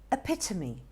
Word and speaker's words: epitome: d-e-b-u-t that's also a very confusing one correct pronunciation is debut debut now let's look at this one e-p-i-t-o-m-e it's also quite a mouthful isn't it not